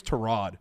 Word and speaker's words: Tyrod: of all time yeah when he came out and was like uh actually everybody my name is torad yeah we were like